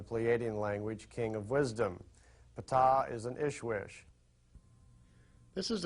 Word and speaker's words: Ptah: While he was there, he got to meet Ptah. That's pronounced Ptah.